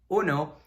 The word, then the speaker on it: uno: So the U is just like the double O sound in English.